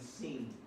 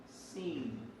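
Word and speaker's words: Sin: The next one we have sheen and seen. The dot on the right is sheen. The dot on the left is seen.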